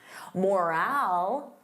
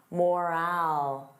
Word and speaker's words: morale: Morale. Repeat after me. Morale. So, notice that long ow.